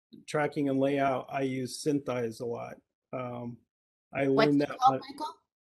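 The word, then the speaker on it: SynthEyes: for tracking artists, tracking and layout, I use Synthize a lot. I learned what's that called, Michael? Synthize. How can you spell it? It's SYNTHESEYE. Synthize. Oh, Synthize.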